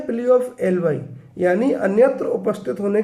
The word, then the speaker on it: alibi: कहते हैं plea of एलवी या प्ली ऑ सही उच्चारण इसका प्ली ऑफ एलवाई है लेकिन चलन में